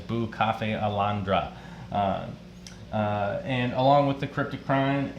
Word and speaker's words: Bucephalandra: Most people call it Bucephalandra, but the actual pronunciation is Bucafe Alondra.